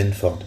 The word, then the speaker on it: Benford: Et à un moment donné, ils ont parlé de la loi de Benford. Je ne connaissais pas. Alors, je vais l'épeler. La loi, comme ça se prononce, hein, la loi de Benford.